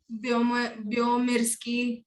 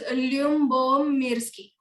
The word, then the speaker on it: Lyubomirsky: एल से था भाई उसका लास्ट नेम, तूने बी से अभी कुछ तो बोला. You remembered. Okay, it is Lyubomirsky.